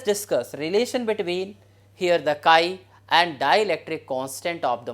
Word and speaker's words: chi: that can be written p is equal to Chi Epsilon e here the sky this is pronounced as here Chi and this is known as Electric susceptibility so